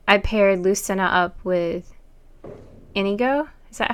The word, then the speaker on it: Inigo: And I paired Lucina up with Inigo. Is that how you pronounce it, Smashy?